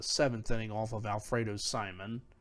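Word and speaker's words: Simón: inning off of Alfredo Simon or Simone I mean they they they pronounced it Simone at that time John Jay hit his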